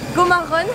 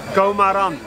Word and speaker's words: Gomarrun: Yeah, because in French my name is like you're taking the first syllable, the last one, you change it. And after, at this moment when I created my Instagram account, I was running a lot, so I put Gomarrun.